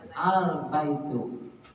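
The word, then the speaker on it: البيتُ: Kalau sudah ma'rifat tidak boleh tanwin ujungnya. Jadi bacanya al-baitu.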